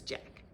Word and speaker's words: Jacques: And I know the title spells his name as Jacques, but in the books it's pronounced as Jack.